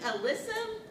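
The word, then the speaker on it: alyssum: Oh, um it's pronounced I think alissum. Alysium. Alissum. Yeah, there's no I, so alysum, but who knows?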